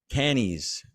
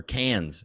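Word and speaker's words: Cannes: his way from valence to a villa in kennys or cans sorry okay Jesus I know I'm so sorry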